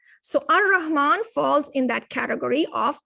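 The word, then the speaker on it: الرحمن: Notice how here you do not pronounce the lam in the al here. You're going ar-Rahman, ar-Rahim.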